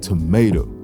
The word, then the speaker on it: tomato: stressed unstressed unstressed intricate the word tomato has a stress pattern of unstressed stressed unstressed tomato since they each have